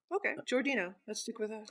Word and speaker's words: Giordino: I always thought it was Giordino. Oh, okay. The audiobook says Giordino. Okay, Giordino. Let's stick with that. I believe that would be the Italian way of pronouncing that.